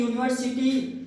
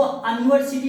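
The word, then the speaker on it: university: ठीक, तो देख रहे हैं कि यूनिवर्सिटी का जो यू है इसको अनिवर्सिटी नहीं पढ़ते, अनिवर्सिटी नहीं, यूनिवर या लिखते हैं, या पर छोटा मात्रा, तो यू का उच्चारण या से हो रहा है।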